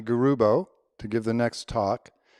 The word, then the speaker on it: Garubo: And said, well, please let them know that my name, Garubo, has both a soft G sound in it, and a hard G sound, Garubo.